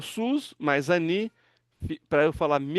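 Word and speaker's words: סוס: Outro Sami com Hirik e Yod é Su, Si.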